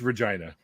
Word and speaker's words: Regina: the capital of Saskatchewan rhymes with a woman's body part. I'm Regina.